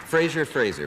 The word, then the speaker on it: Frazier: you welcome one of them Joe Frazier Frasier Fraser which how do you say it uh freighter